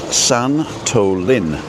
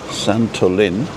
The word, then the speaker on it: Santolin: So today's word, if you stay till the end, is Santolin. Santolin, with a little accent on the I. Santolin.